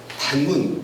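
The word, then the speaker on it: 袒免: 이 밖에 구시초는 단문, 이것도 단면이라고 써놓고 단문이라고 읽습니다.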